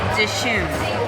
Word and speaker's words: Dishoom: And we asked, the proper pronunciation is Dishoom. Like, duh, it's got 2 O's.